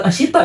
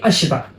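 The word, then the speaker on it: あした: Misalkan kalian baru pulang sekolah nih, bilangnya mata ashita karena besok kan ketemu lagi, ya enggak? Sampai jumpa besok. Bukan ashita ya, tapi ashita.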